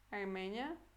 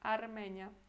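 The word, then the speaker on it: Armenia: Armênia, quase igual, só que R é diferente, né? Em polonês. Armênia, mais duro.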